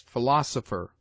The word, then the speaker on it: philosopher: PH is used for F in words derived from the Greek, as philosopher, philanthropy, Philip. Q, as in other languages,